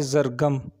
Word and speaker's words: Zargham: नाम है ज़रगम। ज़रगम नाम के इंग्लिश में स्पेलिंग है ZARGHAM, ज़रगम।